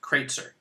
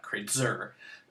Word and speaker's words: Kreitzer: which you pronounce it kreitzer stress comes on the first syllable of my last name not kratzer um it's a syllabic